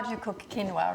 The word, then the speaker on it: quinoa: question is always like how do you cook quinoa right and how do you say it i said quinoa what did you say okay good yeah so this is not kiona no kyo yeah exactly so it's very simple